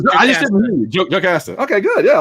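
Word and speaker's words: Jocasta: So Yo Costa is my next pick. Who? Yo Costa? How do you pronounce her name? Oh, I just didn't hear you. Joe Casta.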